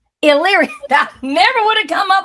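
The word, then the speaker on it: Elyria: E L Y R I A. How do you pronounce it? Yria. Eyria.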